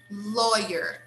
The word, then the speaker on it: lawyer: Lawyer, lawyer. You see, we spell with letter A, but we say law, law, okay?